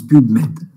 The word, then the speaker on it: PubMed: ça que ça se prononce, PubMed. D'accord? C'est de l'anglais.